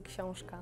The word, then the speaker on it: książka: It sounds like koshka, like А така. cat. They really like the sh sound. It's like the Polish thing.